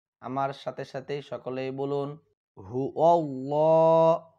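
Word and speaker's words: هو الله: সাথে সাথেই সকলেই বলুন হু আল্লাহ হু আল্লাহ খেয়াল করুন অনেকেই বলে হু আল্লাহ এখানে কিন্তু হু আল্লাহ হবে না এখানে হবে হু আল্লাহ ল শব্দটি মোটা করতে হবে এখানে লাম শব্দটি মোটা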